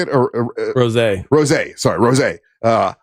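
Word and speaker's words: Rosé: The very first performance was Bruno Mars and is it Rosie? Is that how you say it? Or Rose. Sorry, Rose.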